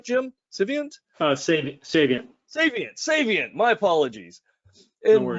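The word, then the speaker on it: Saviynt: most recently at the chief trust officer for civant did I pronounce that right Jim civant uh Sav saviant saviant saviant my apologies and Michael's got 17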